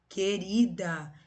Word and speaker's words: querida: Querida. Vocês escutam o som do U? É querida? Não é, né?